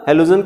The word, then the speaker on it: halo: एक तो है जब ये प्रीफिक्स में आएगा तो इसको हेलो बोलेंगे, हेलो वाली स्पेलिंग नहीं है, अलग है ये, HALO, हेलो।